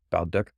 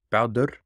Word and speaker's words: Baldur: Being that the stories themselves come from Iceland, I want to try to use the Icelandic pronunciation. So today we're going to be learning about Baldur or Baldur. Baldur. It's hard.